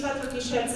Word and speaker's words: Petra: the age of AI so my name is patri and by the way thank you so much for pronouncing my name so well that doesn't happen